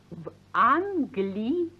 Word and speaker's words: в Англии: In England is v Anglii. Pronounced Vanglii.